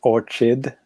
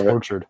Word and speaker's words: Orchid: I was going to say, what you Americans pronounce it wrong. It's Orchid. I think you'll find. Weird. It's a weird thing you just said. It's weird. I thought it was Orchard, but whatever.